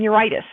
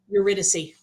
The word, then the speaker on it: Eurydice: is the tale of Orpheus and uritus eurydice eurydice thank you I knew I wasn't pronouncing that right and I was like